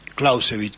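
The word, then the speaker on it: Clausewitz: guerra Como por ejemplo Carl Von causevic Carlos de causevic sería la traducción del alemán Carl Von kusich kusich se escribe clause W I tz que fue un militar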